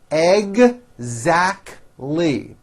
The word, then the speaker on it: exactly: she is directly responsible exactly three syllables egg zach lee it's exactly what we